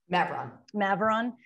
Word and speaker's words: Maveron: i pronouncing that right amy maveron yeah think about maverick maverick okay i was thinking